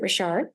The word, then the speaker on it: Richard: It's like Richard, but you pronounce it Richard, and, singular.